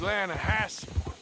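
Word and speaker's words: Lannahechee: trout you mean the lanahashi river no no no no no the the lana hatchy it runs right near here yeah but it's pronounced land has why is everything in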